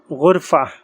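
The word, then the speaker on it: غرفة: तो इसका हमारे पास पहला एग्जाम्पल है हमारे पास गुरफ़ा। गुरफ़ा राउंड ता है। जब इसको हम प्रोनाउंस करेंगे लास्ट के अंदर, तो इसको हम हाई साउंड के साथ प्रोनाउंस करते हैं, लास्ट के अंदर ही आएगा।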